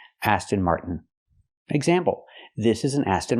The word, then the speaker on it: Aston Martin: Stop the air. Mart and fall to the end. Martin. This is the most common way to pronounce it in America. Aston Martin. Not Aston Martin. Aston Martin.